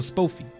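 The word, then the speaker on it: Spofie: Long O. So Spoffy. Spoffy. Spoffy's a good person? Spoffy.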